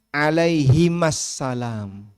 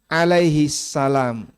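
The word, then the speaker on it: عليهما السلام: suhuf Ibrahim dan Musa harusnya alaihimassalam H tapi kan orang bacanya Alaihissalam kalau satu tunggal itu Alaihi satu ya kalau dua alaihima Nah dia pakai Alaihi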